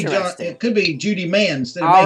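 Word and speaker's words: Mahan: that one girl's name you said mayhan very well could be man with a silent h because we knew some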